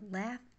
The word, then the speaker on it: laugh: LOL هو اختصار the laugh out loud، يعني الضحك بصوت عالي جدا. laugh out loud، واخدين بالكو ال GH هنا بتتنطق زي ال F، زي ال F، وال T هنا out أو بتتنطق زي الهمزة.